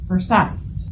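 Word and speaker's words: Forsyth: spelled like foresight right foresight but it is pronounced as forite okay and so I can imagine this couple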